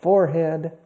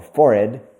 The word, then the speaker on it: forehead: My fingers, my arms, my legs, my back, my stomach, my chest, my chin, my nose, my forehead, or forehead, two pronunciations, my eyebrows, my eyelids, my eyelashes, my eyes, okay, my ears, my earlobes, etc., my cheeks, my cheekbones.